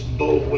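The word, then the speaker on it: Boulware: It's Bowler is how it looks. B-O-U-L-W-A-R-E. Ken to Tom Bowler, Tom Bowler. Yes, sir. He was like one of my granddaddy's contemporaries, and now there's a Tom Bowler that's kind of just retired, and they are.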